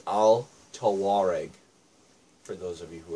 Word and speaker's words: Al Tawareg: can actually pronounce that it's Al toar EG for those of you